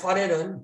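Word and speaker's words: Farel: 근데 사실은 파도 아니고 파도 아니잖아요. 파 F 발음이 나와야 되는 파렐.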